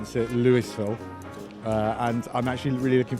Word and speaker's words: Louisville: them are wrong but the correct one is Louisville that's right Louisville all right well you were